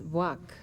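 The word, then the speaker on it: Vāc: V VA a c I have been told that it may be pronounced Vac which means literally speech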